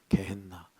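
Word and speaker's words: γέεννα: 이게 이제 신약은 헬라어로 쓰였으니까 히브리어로 발음을 안 하죠. 발음이 조금 바뀌어요. 그래서 개나라고 나와요. 개앤나.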